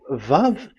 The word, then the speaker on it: vav: the words I mean so It's a V. So don't change it into W.